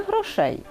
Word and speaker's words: грошей: правильно сказати грошей чи грошей я думаю краще сказати немає грошей так ти маєш рацію правильний варіант з наголосом на нашому складі немає грошей або багато